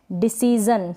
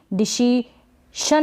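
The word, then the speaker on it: decision: और फिर ये है डिसीजन, क्या है डिसीजन, इसको भी डिसीशन ना पढ़े, डिसीशन नहीं डिसीजन।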